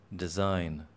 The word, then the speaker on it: design: You're saying S instead of Z. Design. Design. Design. Design. Design. Like liaison. It's not liaison. Son. It's like in French.